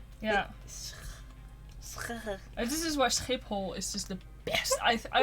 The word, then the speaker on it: Schiphol: Schiphol. What's the sound that nobody can pronounce?